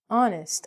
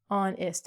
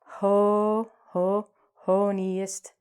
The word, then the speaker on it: honest: Uh Honest. Oh. Honest. We don't say ho ho ho niest.